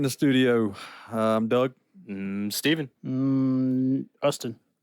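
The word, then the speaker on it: Justin: Ustin. Ustin. The J is silent.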